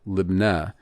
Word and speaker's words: Lebanah: Now, another entry related, H3839, Lebanah. It's usually the first three glyphs are pronounced a little bit closer together so that the emphasis can be put on that final Lebanah.